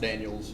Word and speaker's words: Daniel: Daniel or Daniels? Depends on who you ask, but I've always seen it spelled Daniel. Okay. Pronounced Daniels sometimes, but spelled Daniel.